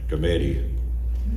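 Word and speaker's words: Skrmetti: The name is Committee. It rhymes with spaghetti, the way I remember it.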